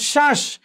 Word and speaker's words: শ্বাস: এরপর খেয়াল করো ব ফলা শব্দের আদ্যে যুক্ত হলে সেই বয়ের উচ্চারণটা কি হবে, উজ্জ থাকবে, অর্থাৎ উচ্চারণ উজ্জ থাকবে। যেমন শ্বাস, এখানে ব ফলার উচ্চারণ হয়নি।